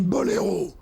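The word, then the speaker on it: Boléro: А во Франции — болеро. ударение на bol.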